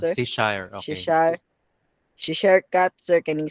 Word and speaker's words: Cheshire: Tama ba ang pag-pronounce, sir? Cheshire, okay.